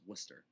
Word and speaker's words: Worcester: And he said, oh no, it's Worcester.